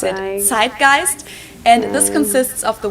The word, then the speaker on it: Zeitgeist: Americans usually say zeitgeist. In German we pronounce it zgeist and this consists of the word which means time and gist which means spirit.